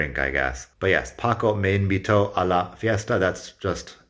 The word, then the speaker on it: invitó: The difference is the accent over the O in Paco me invitó. When you say it that way with the strong O sound at the end, that's the strong syllable in the word, that makes it past.